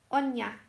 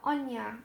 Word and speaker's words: Anya: Is it? Is that how you say your name? I don't want to say it wrong. So, Anya, thank you. See, it's just the way it's said, spelled, Anya.